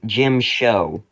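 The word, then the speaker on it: Djem So: fives there's shin but there's also Jim show which for some reason rhymes with Jim Crow anyways yeah this is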